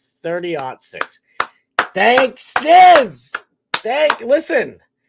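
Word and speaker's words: 30-06: Especially compared to me, cuz that looks like 3006 to me, but I guess you pronounce it 306. I guess you ought to say o six instead of 06.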